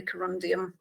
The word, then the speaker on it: corundum: which does but the shooting script does say corundum she does pronounce it correctly um the computer announces that